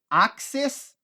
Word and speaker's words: access: Access é o substantivo, o acesso. E access, olha a ênfase na pronúncia no final. Access é o verbo acessar.